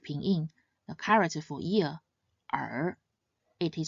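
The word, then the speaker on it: 二: This character is read in the fourth tone R. R. Another character with this unique ping. The character for year R.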